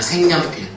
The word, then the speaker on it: 색연필: 내봐야 된다이 말이라고 그러면 얘를 소리 내면 어떻게 되느냐 색연필이 되는 거예 발음하게 되면 생년필 그러면 의무는 얘를 가지고